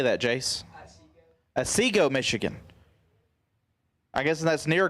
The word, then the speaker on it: Otsego: Otsego, Michigan.